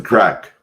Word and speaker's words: craic: What's the crack? They always tell me. Yeah, spelled CRAIC. That's how it's spelled.